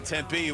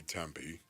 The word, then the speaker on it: Tempe: Some people say Tempe. You don't want to You don't want to say it like that though, do you? You want to say Tempe? Correct. Yes. Tempe.